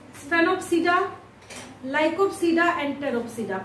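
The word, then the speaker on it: Pteropsida: इसको जब आप देखना स्टार्ट कीजिएगा, जैसे सिलोप्सिडा, स्फेनोप्सिडा, लाइकोप्सिडा एंड टेरोप्सिडा। P silent होगा हर जगह पे, जहां जहां पे मैं प्रोनाउंसिएशन कर रही हूँ वहां पे क्या होता है, पी साइलेंट होता है।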